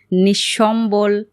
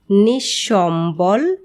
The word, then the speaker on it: নিঃসম্বল: তবে পদের মধ্যে যদি বিসর্গ থাকে তাহলে বিসর্গ পরবর্তী ব্যঞ্জন বর্ণটি দ্বিত উচ্চারিত হয়। যেমন নিঃশেষ নিঃসন্তান, নিঃসম্বল।